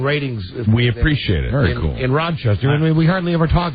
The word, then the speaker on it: Rochester: Rochester Rochester uh Rochester you don't you don't pronounce the s in it it's Rochester Rochester uh and really if you're a native up there because I know people from our it's Rochester because they have kind of have the flat